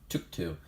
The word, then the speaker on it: Tuktu: we're gonna be looking at a son hunter took two that's how you pronounce it I actually recently saw a decklist